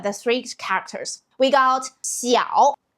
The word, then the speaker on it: 晓: You might already notice that eow is our rhymes game of our poem Chun Xiao. Actually three lines end with this specific sound. Let's look at the three characters. We got Xiao, Niao, Shao.